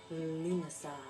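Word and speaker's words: Lughnasadh: or Lunasah, which is that big long word that has a lot of extra G's and H's. But how you pronounce it is Lunasah.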